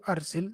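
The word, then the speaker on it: أرسل: It would be arsil, because arsala Yursilu, arsil, that's the correct way.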